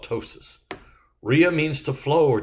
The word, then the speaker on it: ptosis: remodeling plasti surgical repair ptosis now in this case the p is silent ptosis drooping falling prolapse it's